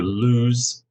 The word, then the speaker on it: lose: they are loose yes remember the S sound here loose as opposed to lose l-o-s-e this is a z sound okay next one my